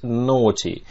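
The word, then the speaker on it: naughty: ноте но очень непослушны обращаю ваше внимание на то как читается это симпатичное слова но ты вот эти вот вот это сочетание букв вот это вот все эй джи эйч по сути дела читается все это как о а дальше остается ти добавить ноте таких слов английском языке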